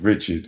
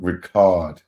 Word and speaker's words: Richard: bro hey she said it ain't pronounced Richard it's part Ricard that's how she said